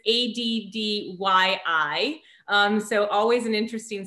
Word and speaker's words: Addyi: I'll spell it for everyone first. It's ADDYI.